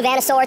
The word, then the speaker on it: Vanasaur: New Vanasaur t-shirt, that's how you pronounce that.